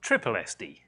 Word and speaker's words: SSSD: system Security Services Damon sssd D which is actually pronounced trip SD it's much easier fewer sybles and you know when to stop yes for SL 12